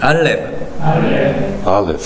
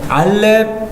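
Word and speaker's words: אלף: 알렙. 근데 알렙 하고서 우리말에서는 이게 받침으로 가지만 굳이 하자면 이 F 발음처럼 알렙 이렇게 된다는 걸 보시면 되겠고요.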